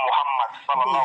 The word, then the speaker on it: Mohammed: Sinon, nous, notre prophète s'appelle Mohammed. D'accord, excuse-moi, je prononce mal, pardon, je ne le savais pas.